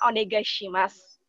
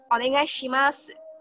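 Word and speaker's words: お願いします: Jadi, kalau orang Jepang itu, mereka memiliki pengucapan G itu seperti eng. Jadi agak sengau. Nah, supaya kalian lebih terdengar seperti lebih native ke bahasa Jepang, bisa kalian ucapkan dengan onegai shimasu. Onegai shimasu. Bukan onegai shimasu.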